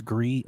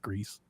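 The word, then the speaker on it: Gris: it Becca swears it's gree I thought it was gree but the developers themselves they call it Greece and everybody in the chat was saying it Greece they told us a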